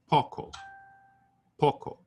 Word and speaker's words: poco: Poco I say Poco so it's more like the O in the British pronunciation of stock poco poco stock not